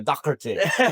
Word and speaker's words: Doherty: And I appreciate you pronouncing it with the proper Irish last name pronunciation there, the Doherty.